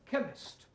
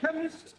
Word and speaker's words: chemist: Ali yes please spell chemist oh blame me k e n chemist does not begin with a k it sounds like it begins with k CH H but that